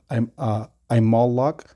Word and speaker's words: Amalek: All right, so and Amalek is Strong's H6002, and it goes to, it's pronounced Imalok.